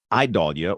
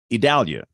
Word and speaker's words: Idalia: an ice storm and then d-a-l and in my world that's Dow like Dallas uh if it's dull it's d-a-h-l but in the pronunciation guide from the hurricane center it's d-a-l idalia that's what I'm saying